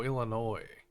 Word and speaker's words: Illinois: I'm saying it wrong oh Illinois oh Illinois I guess you don't say the s whatever it does it